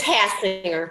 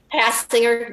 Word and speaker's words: Hassinger: It's Hassinger, but that's okay. Wait, what is it? Hassinger, the G's not hard.